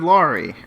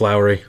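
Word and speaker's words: Lowery: it I'm sorry David lry the Green Knight Steven Spielberg it's Lowry okay Lowry how'd you get that one wrong Jesus Lori that's I no that's not it Lowry Ste spelberg Steven Spielberg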